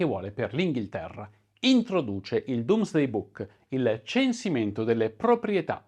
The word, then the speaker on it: Domesday: pari, tanto che il Domesday Book viene ribattezzato Doomsday, sembra la stessa pronuncia ma in realtà è scritto diverso, il libro dell'Apocalisse, e